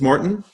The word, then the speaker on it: Morton: How do you pronounce it? It's Morton. Morton. Morton in Spanish.